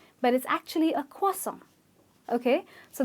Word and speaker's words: croissant: a croissant or a croi-sant but it’s actually a kaw-sant ok so the "R" is silent there is an invisible "W" that appears in the pronunciation its kaw-sant, you might find it